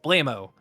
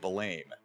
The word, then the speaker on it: Blammo: well they do against blammo I said it right I say it right no it's not blame I said blammo blame BL blammo blammo blammo blammo okay not blame yeah you're not blaming